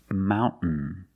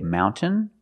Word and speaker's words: mountain: understand this trade example Mountain you can say mountain or Mountain this girl tablet speaks